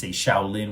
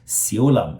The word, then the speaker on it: Siu Lam: Now, usually in America, when we say Shaolin, which is from the Mandarin pronunciation, but in Cantonese, it would be a little bit different. It would be Siu Lam, and the temple is Ji, right? Siu Lam Ji.